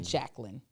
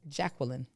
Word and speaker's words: Jacqueline: Even though my mother was My mother says Jqueline. So there's three syllables instead of two. It's not Jacqueline.